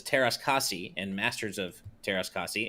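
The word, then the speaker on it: Teras Kasi: cassie and masters of taras kasi is a finnish word and the a should be pronounced like a in the word cat i didn't know that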